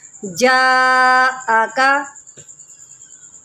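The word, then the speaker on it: جاءك: ठीक है, अब ये मद्दे मुत्तसिल है, इसको हमने खींच कर पढ़ना है, यानी कि लंबा करके पढ़ना है। जाअका, जाअका।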